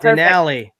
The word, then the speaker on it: Denali: Denali. It rhymes with Valley. Denali. There you go. Also rhymes with Cali.